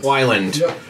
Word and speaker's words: Weiland: do you say your last name is it Wilin Whelan Wilin Wilin perfect time right well I love it it's